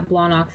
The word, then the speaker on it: Blawnox: Yeah, you gotta say it like you have a beer gut and just got done watching football and just be like, Blawnox.